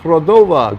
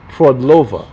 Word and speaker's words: Frodlova: Frodova, good afternoon, everyone. Frodlova, I said it incorrectly.